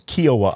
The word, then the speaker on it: Kiawah: uh uh kioa K what's kioi Island it's kioa Island that's how it's spelled k I've always we've always called it